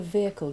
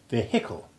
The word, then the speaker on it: vehicle: Yes, that's another example of silent H in English. Though not always in America. I have American friends who sound the H and say vehicle, whereas here the H finds its voice only in the adjective vehicular, when the stress moves to the second syllable and the first changes its vowel sound from long E1 to short E3.